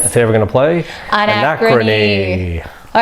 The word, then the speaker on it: Anachrony: Anachrony. Anachrony, that's how it's pronounced.